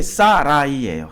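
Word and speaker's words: 사래: 사레가 자, 요 발음이 사라이예요.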